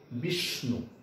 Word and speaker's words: বিষ্ণু: দেখো বয়রস্বৈকার মূর্ধন্য ষয় ন রস্যকার, বিষ্ণু, বিষ্ণু স্বর উচ্চারণের সময় বলেছি যে মূর্ধন্য ষ সব সময় তালব্য স্বর মতো উচ্চারণ হবে, গাঢ় উচ্চারণ হবে, বিষ, বিষ্ণু।